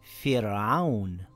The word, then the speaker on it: فِرْعَوْنَ: It reads as Fir'aun with a light Ra.